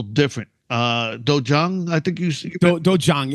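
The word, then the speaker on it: 도장: A lot of people pronounce it dojang or dojang. There's actually an H in the spelling when it's phonetic, so we just kind of carried out dojang.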